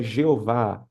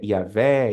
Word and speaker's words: Jeová: Vimos aqui que a pronúncia Jeová ela é incorreta, porque foi oriunda da mistura do nome de Deus com o nome Adonai, e que ninguém sabe qual é a pronúncia original, se é Iavé, Iarro, Iarro e por aí vai.